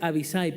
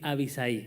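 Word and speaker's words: Abisai: Verdaderamente se pronuncia Abisay, pero siempre me sale decir Abisaí, así que me disculparán mi mala pronunciación.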